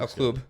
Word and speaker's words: El Club: El Club. That's how it's pronounced in Spanish.